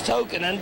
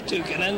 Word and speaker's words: Tukinen: Okay, I'm very fortunate to have here Tukinen. Pronounced the name right? Close. It's Tokinen, but a lot of people say Tukinen.